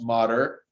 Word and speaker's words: mater: the same way with the it looks like mater like in the movie cars but that's actually pronounced modder dura arachnoid and pia mater is actually a